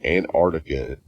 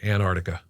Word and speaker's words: Antarctica: I'll give anybody that because it is hard to say both of those hard Seas antartic so we all kind of just say Antarctica we leave that first hard sea out but the other thing